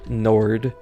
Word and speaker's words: nord: various European languages uh Nord or I believe in French it would be nor the the the D I think is silent um but this word in